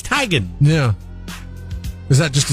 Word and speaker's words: Teigen: tomato kind of thing it is tygan we're all off we're all off so it's not tegan it's not teigen it's tigen yeah is that just